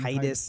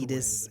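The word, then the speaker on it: Tidus: almost like Titus, very close to me Yeah, saying Titus, the proper way, Titus. but- No, there's one proper way to say It's that. Titus. It's Titus, everyone. And then the other small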